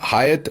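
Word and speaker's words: Hyatt: अक्सर लोग ये जो हायत होटल है इसे हयात होटल पाकिस्तान में यूएई वगैरह में अक्सर प्रोनाउंस करते हैं और वो समझते हैं कि जो अरबी का या उर्दू का लफज़ हयात है ये वो है। ऐसा नहीं है।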